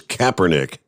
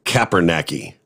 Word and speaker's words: Kaepernick: Just his memory serves, the last name was Kaepernick, not Kaepernacky.